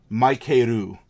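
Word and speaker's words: マイケル: It would be sort of like a Japanese person being named Maikeru. Those are all syllables in the Japanese language, but is that person's name Michael? No. It sounds like Michael, and that is the closest approximation that traditional Japanese can get to Michael, would be Maikeru.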